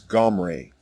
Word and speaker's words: Omri: as an inversion omri the correct way to say the king's name is gomray when the assyrians heard